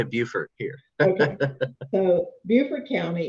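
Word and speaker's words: Beaufort: do y'all pronounce it we say Buford here in South Carolina but I know that's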